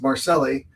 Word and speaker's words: Marcelli: By the way, William, I just want to say to you that you pronounced her name correctly. It's Marcelli.